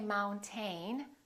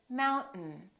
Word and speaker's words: mountain: This AI, these 2 letters are not pronounced. We don't say mountain. We say mountain, mountain. This syllable is stressed. Therefore, the second syllable is reduced and the vowel disappears. So we say mountain. Don't say mountain. Don't release your tongue. Keep it up and just go directly to the N.